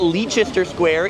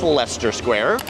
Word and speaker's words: Leicester Square: It's not Leicester Square, it's Leicester Square.